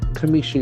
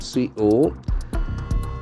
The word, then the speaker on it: commission: Commission is another beautiful noun. COMMISSION. So it has got a beautiful K sound here. Commissions. Beautiful. Commission. The accent falls on second syllable.